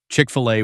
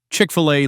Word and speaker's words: Chick-fil-A: And voila, Chick-fil-A was born. No, it's not French. No, you're not supposed to pronounce the filet like it's on the menu in Paris.